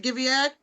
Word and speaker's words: Guyviaud: character really quickly give giad did I say it right Gad Gad oh you could just call me Lord today